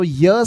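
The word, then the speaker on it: ewe: come over here now this is not EU it has to be you how to pronounce u so your sound is coming then it must be a u sound is a u a female this means a female sheep is known as you but whereas a male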